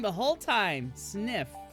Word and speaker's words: Zniw: Oh yes, ZNIW, the name of the main character of this game, is pronounced Sniff. Oh, I've been saying it wrong the whole time. Sniff. Like sniff, but with a Z?